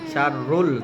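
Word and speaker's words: شَرٌّ لَكُمْ: ওয়া আসা আন তুহিব্বু শাইআন ওয়া হুয়া শাররুল, তাসদিদ আসলে শক্ত করে উচ্চারণ করতে হবে।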